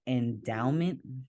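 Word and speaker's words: Endaoment: There's one called Endowment, and the way it's spelled is ENDAO. So it's like DAO.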